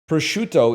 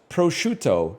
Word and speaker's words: prosciutto: Prosciutto is pronounced prosciutto, not prosciutto.